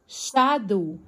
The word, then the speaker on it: shadow: طيب ظل شادو الاس مع الاتش تديني صوت حرف الشين.